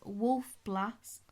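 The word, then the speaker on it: Wolf Blass: often what are you opening um this is wolf blast vineyards is that how you pronounce that b l a double s yeah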